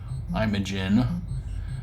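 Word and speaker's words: Imajin: Um but in this game, Mario is instead I imagin or I imagin. It's spelled I M A J I N. I'm a Jin.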